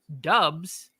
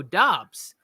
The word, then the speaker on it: Doubs: I've heard people say it's pronounced Dubs, and then people go Romeo Doubs.